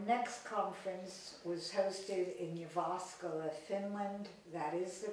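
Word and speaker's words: Jyväskylä: that time our next conference was hosted in you've asked Allah Finland that is the correct pronunciation our board member you're awesome worked on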